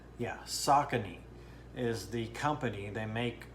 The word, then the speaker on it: Saucony: at it right now just make sure i pronounce this right saucony yeah saucony is the company they make uh running shoes